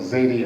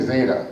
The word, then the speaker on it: Zadie: My grandparents that were the Jewish, I call them Zadie and Bubby, which is the Yiddish. You're Jewish, right? Did I pronounce Zadie right? Yeah. Okay, some people say Zeta. It's Yiddish for grandmother and grandfather.